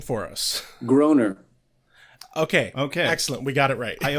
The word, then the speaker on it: Groener: actually the same sound, they'll just say Groner, and that works out. It works out just fine. Cool. All right. Yeah, I figured that was too easy. I thought it because it was spelled like Matt Groening, that it would be pronounced Grainer. So No.